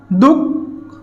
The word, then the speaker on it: দুঃখ: স্যার দুঃখ, দুঃখ, দুঃখ, বিসর্গ বসেছে, অর্থাৎ কি বিসর্গ মাঝখানে বসেছে, বিসর্গের পরের যে বর্ণটা, সেই বর্ণটা কি দ্বিত্ব উচ্চারণ হয়েছে, দ্বিত্ব উচ্চারণ হয়েছে।